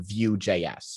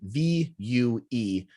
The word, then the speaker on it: Vue: focused in on on view js so that by the way that's spelt v-u-e uh which is uh the front i believe the french pronunciation for the word view which is v-i-e-w uh